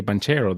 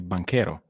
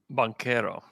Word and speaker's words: Banchero: music to my ear i will never let you say banchero though you need to say bankero bankero i can do that